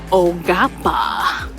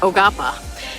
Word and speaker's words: Quapaw: It's Ogapa. Q-U-A-P-A-W. It's pronounced Ogapa. And they said that the language doesn't really conform well to English language phonetics, so It's a little tough for a novice to learn.